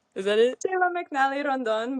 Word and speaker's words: Cheyla McNally Rondon: Um, this week we have my friend and future roommate, uh, Shayla McN Rondon, who is, how do you say your name? Is that it? Shayla McNal Randon, but close. I can't roll my ars, but I'll learn.